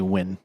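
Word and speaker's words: Nguyen: Actually, it's actually Win.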